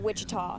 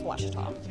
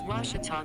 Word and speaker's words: Ouachita: at a baptist university back in texas everybody pronounces it wichita but really it's ouachita washington how would you pronounce it it's washita baptist university get it right let's watch it